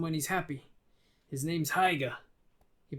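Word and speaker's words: Haigha: only does them when he's happy his name's heiger he pronounced it so as to rhyme with maya okay his name's heya i love my love with an h alice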